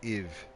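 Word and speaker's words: и: Also, the 4 is pronounced like if but with a V. Like if but with a V. So iv.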